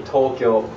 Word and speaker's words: Tokyo: Okay, so Tokyo is actually Tokyo. So the T-O is actually kind of long, and it's not Kyo, it's Kyo. It's like a blended sound.